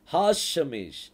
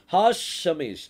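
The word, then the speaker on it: השמש: சொல்லுவாங்க அப்படின்னா hash ஷமேஷ் ஹாஷமேஷ் hash இஷ்னு வருது பாருங்க ஹாஷமேஷ் அதை நீங்க கரெக்டா ப்ரொனௌன்ஸ் பண்ணும்போது ஹாஷமேஷ் அப்படின்னு சொல்லி சொல்லணும் அந்த இஷ் என்கிற வார்த்தை வந்து அது அப்படியே ரொம்ப மைல்டா என்ன செய்யும் வரும் ஹாஷமேஷ் ஹாஷமேஷ் அப்படின்னா சூரியன் த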